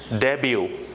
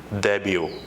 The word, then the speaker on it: debut: D but no it's not that the correct pronunciation of that word is debut what is it debut and the meaningful that is first time performance